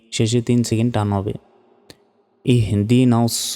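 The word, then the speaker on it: اهدنا: ইয়াকা নাস্তাইন নাস্তাইন ইয়াকা নাবুদু ওয়া ইয়াকা নাসতাাইন ইহদিনাস সিরাতল ইহদিনাস অনেকে বলি ইদিনাস এখানে হার উচ্চারণই করি না দেখুন হামজা হাজের ইহ ইহন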